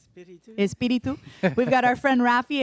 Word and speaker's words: Espiritu: Espiritu, but I like to say Espiritu. Espiritu.